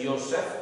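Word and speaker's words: יוסף: José es Yosef con la Y. Yosef. Este era José con la Y, así se escribe en hebreo, Yosef.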